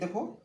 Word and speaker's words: the: তারপর এখানে আসি, এই যে নিয়মটা হচ্ছে কি, যখন কোনো শব্দ কনসোনেন্ট দিয়ে শুরু হবে তখন তার আগে যে টি এইচ শব্দটি লাগানো হবে তার উচ্চারণ কিন্তু দা হবে।